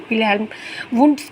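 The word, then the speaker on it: Wilhelm Wundt: तो पहले हम विलियम विल्हेम वुड्स के बारे में पढ़ते हैं इसकी विल्हेम है ये विलियम नहीं है विल्हेम वंड ऐसे है लेकिन मैं स्पेलिंग के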